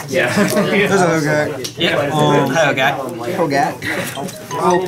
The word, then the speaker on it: Hogaak: It's Hogaak. It's 2 A's, not 2 O's.